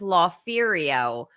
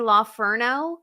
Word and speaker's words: La Ferio: you don't know this you are mispronouncing my handle my handle my handle is La ferio but but you call me La Ferno which I have to